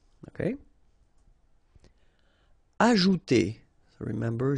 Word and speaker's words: ajouter: Ajouter. So remember, J is really pronounced like J. Ajouter.